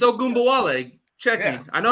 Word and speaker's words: Ogunbowale: It's Ogunbowale.